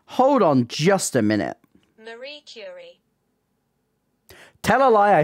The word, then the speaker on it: Marie Curie: way I'm pronouncing that right I am not pronouncing that right hold on one second hold on hold on just a minute Marie cury tell a lie I said it right this